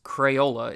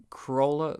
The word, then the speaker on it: Crayola: way it's basically going through the word in pronouncing every letter and plus the brand we're talking about today is Crayola it's not Corolla Corolla though I guess that's weirdly not where